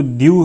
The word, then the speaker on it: Diu: Nuno दी कुन्हा जो है ये एक देखो द्यू है, ये जो द्यू एक्चुअली यहाँ पे स्पेलिंग मिस्टेक है, ये द्यू यानी ये देखो यहाँ पे DIU द्यू, ठीक है।